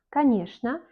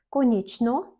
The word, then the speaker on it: конечно: Конечно, конечно, mais on ne dit pas конечно. On dit конечно.